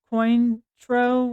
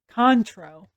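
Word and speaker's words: Cointreau: a classic cocktail oh yeah it says Baka coin tro which is probably not how you say that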